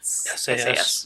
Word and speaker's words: SAS: Is it pronounced SAS or SAS? SAS. Yeah, SAS.